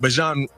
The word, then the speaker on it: Bijan: Apologies, but Bijan Robinson. Bijan. He let everybody know, like, y'all been mispronouncing my name.